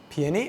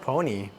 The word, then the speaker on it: peony: Peony? Oh, I always say them like pony. Wow, peony. That sounds way better.